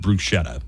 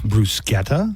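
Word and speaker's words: bruschetta: yeah brusa ooh uh I've heard it g Bretta I've definitely heard it pronounced Bretta brusketa uh Joanna's the one that's right it's brusketta brusketa it's brusa brus delicious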